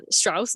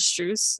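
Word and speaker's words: Strus: wrong um instead of i said uh strauss instead of strews like a strews right um it's because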